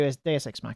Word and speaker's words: Deus Ex Machina: there we go D DSX maer there we go DSX maer that's how you say it DX smer the seventh case is